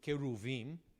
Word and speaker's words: cherubim: you guys okay so cherubim or in hebrew keruvim is how you pronounce it in hebrew it's a plural of